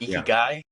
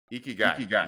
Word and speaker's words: ikigai: there's a Japanese principle of I'm going to mispronounce this, but Ikigai. Ikigai.